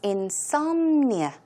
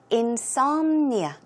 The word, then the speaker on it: insomnia: what insomnia is but let's check out the pronunciation the stress goes on S so it's insomnia insomnia okay and another word for that word is